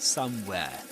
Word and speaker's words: somewhere: So you say somewhere in somewhere in wherein in somewhere you don't pronounce the final e of course you don't say something like somewhere but somewhere somewhere.